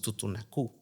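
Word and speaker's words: Tutunakú: Ellos dicen, es que no somos totonacas, no somos totonacas, no somos tutunacú, con acento en la U, Sí, pero y llámanos así, es ¿no?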